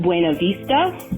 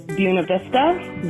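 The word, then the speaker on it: Buena Vista: Denver trait which is correcting people when they mispronounce buav Vista I have uh been in many heated arguments with people who insist on pronouncing in it bua Vista or some variation of that but I believe that if the locals tell us that it's buav Vista then we should honor and respect that so I do but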